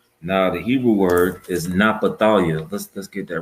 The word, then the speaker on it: Naphtali: Now the Hebrew word is Naphtali. Let's get that right quick. All right. And this is concerning the so-called indigenous people from Chile to Argentina. Mm-hmm. All right. Now it's pronounced Naphthalia. All right, Naphthalia.